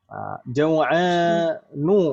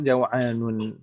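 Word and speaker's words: جوعان: Jaw'anu, nggak boleh dibaca jaw'anun.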